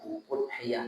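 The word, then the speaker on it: أُضْحِيَّة: Pasal tentang hukum-hukum kurbanil hamzati fil asuri udhiyah dengan dommah hamzahnya. Jadi u bacanya Uhiah itu lghat yang masyhur.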